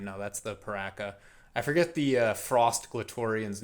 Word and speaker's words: Piraka: Um we've got the Piraka foot, Piraka as the designer of that figure uh pronounces it, fun fact.